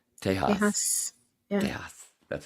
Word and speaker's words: Tejas: And the right way to say Texas. Tejas.